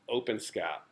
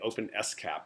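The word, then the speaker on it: OpenSCAP: that exists right now open scat or actually open s cap is how it's supposed to be pronounced that I say opens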